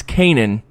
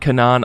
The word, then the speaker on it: Kanan: of your blanket warning so it's Kanan not not Kanaan I wasn't really sure